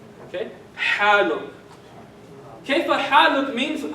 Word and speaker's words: كيف حالك: I'll put like a dot under H to tell you it's a ha. Okay? Haluk. Kayfa haluk means how are you?